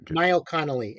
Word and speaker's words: Niall Connolly: Niall Connolly, NIALLCONNOLLY.